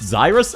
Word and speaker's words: Zyrus: It's pronounced Zyrus? Oh, gotcha! Okay. I thought it was just a misspelling of Chris.